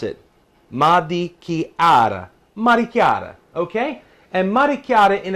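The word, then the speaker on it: marechiara: This is how you pronounce it. Maricchiara.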